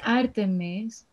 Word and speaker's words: Artemis: In Greek, it's Artemis. Because it's the Greek goddess of hunting.